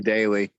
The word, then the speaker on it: Daly: daniel joseph dally us i think it's probably daily but it's d-a-l-y yeah it's spelled dally but i bet he pronounced it daily how much you wanted